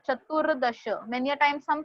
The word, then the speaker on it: चतुर्दश: While pronouncing Chaturdasha, R is pronounced after T and hence put Rafar on the D. You have to put Rafar on consonant D. Chaturdasha.